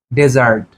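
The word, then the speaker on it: desert: তদ্রুপ আরেকটি উদাহরণ হচ্ছে ডেজার্ট আমরা জানি যে মরুভূমি অর্থে আমরা ব্যবহার করি ডেজার্ট এরই পাশাপাশি আরেকটি উদাহরণ হচ্ছে ডিজার্ট তাহলে একটা হচ্ছে ডেজার্ট আরেকটা হচ্ছে ডিজার্ট তাহলে উচ্চারণ different ডেজার্ট ডিজার্ট spelling different এবং মিনিংও ডিফারেন্ট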